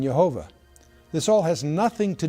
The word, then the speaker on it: Jehovah: pronunciation of the name rabbis in the 16th century pronounced the consonants Yad vad with the vowels of Adonai or Lord resulting in yehovah this all has nothing